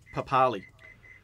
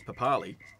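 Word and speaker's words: Papali'i: years and years it goes on as papali now all of a sudden it's papalihi and that may be the correct pronunciation the place of parramatta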